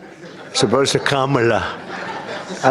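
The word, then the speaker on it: Kamla: Cam as opposed to Com.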